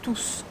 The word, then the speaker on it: tous: À tous. À tous. And you smile just a bit here. Tous. U sound again. You push your tongue back. Tous. And here we pronounce S.